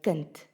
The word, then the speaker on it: kind: However, if it is at the end of a word, it is pronounced as a T. Now say my kind and my kinders.